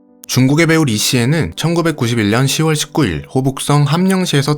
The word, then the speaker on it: 李现: 그러나 리시엔이 태어나자마자 곧바로 비가 그치고 태양이 떴으며 리시엔의 부모님은 태양처럼 주변에 따뜻함을 전하는 사람이라는 뜻을 담아 아들의 이름에 해가 뜨다라는 뜻을 가지고 있는 현, 중국어 발음으로는 시엔이라고 지어줍니다.